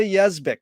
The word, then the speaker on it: Yezbick: be here with yes vic is that the correct way to pronounce it yes yeah it's phonetic like it looks it's pronounced like it looks pretty confusing thank you